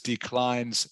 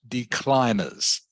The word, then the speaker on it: declines: language that it is with a word like declines you don't pronounce the e okay okay so the word is declines not decliners okay you would think